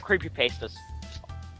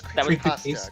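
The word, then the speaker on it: creepypasta: wrote creepy pastas see I've always pronounced as creep pasta cuz I mean I don't know was um it it's originally supposed to be pronounced Creepy Pasta because it was like copying pasting but it doesn't really matter at this point maybe I'm just hungry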